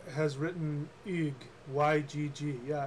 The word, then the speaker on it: Ygg: Okay, so Sirius B has written Ygg, Y-G-G. Yeah, it's pronounced Ygg.